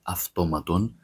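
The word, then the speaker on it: αυτόματον: Automaton in Greek is pronounced automaton. I always say this, when you see a word that has an AU or EU, that is never pronounced as aw, it's never pronounced as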